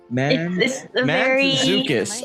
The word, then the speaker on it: Mantzoukas: Mantzoukas. Okay, I've been leaving out the T unintentionally. But I feel like that's how you were.